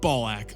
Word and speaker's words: Balak: Which means at number 75, we have Balak of the Vilifiers. You know, the guy whose name rhymes with ballsack.